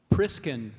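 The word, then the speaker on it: priscan: o l o m o n i c priskin priskin uh can you repr pronounce the word priskin priskin uh can I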